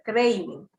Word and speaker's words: craving: Se escribe craving, pero se pronuncia craving.